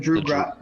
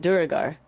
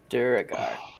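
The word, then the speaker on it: duergar: Is it Drugar? Is it Drugao? Drow? Drow. No, he's referring to the Duragar. Duragar.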